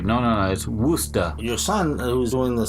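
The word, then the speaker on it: Worcester: well close to Boston a little town called rooster is how you pronounce it would stop but it spelled wor CES ter so you would naturally think worchester yes you know but when we got up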